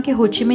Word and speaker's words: Cu Chi: कुची tunnel जी हां spelling सी एच यू सी एच आई है लेकिन इसे कची टनल कहा जाता है और आपने ये तस्वीर